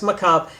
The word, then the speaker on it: macabre: Most people pronounce it wrong. Macabre. Macabre or whatever. It's macabre.